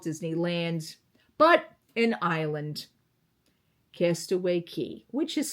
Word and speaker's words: Cay: but an island, Castaway Cay, which is spelt C-A-Y, but yet everybody pronounces it K-E-Y, even though it's spelled C-A-Y, which is K, not Key.